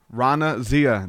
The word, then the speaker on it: Raana Zia: conversation plan for you guys today my guest Rana Zia did I pronounce it right yes welcome to the show